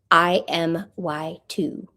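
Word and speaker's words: IMY2: I am Y2. It's an acronym. It's an acronym for I miss you, too.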